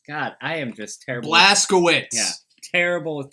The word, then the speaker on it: Blazkowicz: Blazkowski. God, I am just terrible. Blazkowicz. Yeah, terrible with pronunciation of last names.